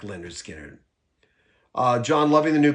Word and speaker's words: Lynyrd Skynyrd: with disaster y'all um but pronounced Leonard skinnard came out in 73